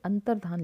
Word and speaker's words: अंतर्धान: पर भी लिखा है, तो आप ध्यान देंगे, अंतर्धान लिखते हैं ऐसे, अंतर्धान।